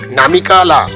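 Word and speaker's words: Namika La: পড়ে এক্ষেত্রে বলে রাখি আসলে উচ্চারণটি হচ্ছে নামিকা লা লা মানে হলো গিরিবর্ত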